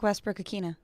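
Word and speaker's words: Westbrook-Ikhine: of all all right did we not ask michelle nick westbrook akina to pronounce his name when we had him on the show and what he said yes we did nick westbrook akina okay well i think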